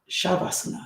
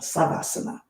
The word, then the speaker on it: Shavasana: Shavasana. Savasana. So depending on the Sanskrit pronunciation sha and sa corpse pose rest